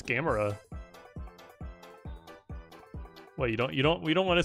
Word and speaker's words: Gamera: like made a joke because of how it's spelled. It looks like Gamera, so they edited it to have a freaking bag of Doritos and a controller. But it's Gamera.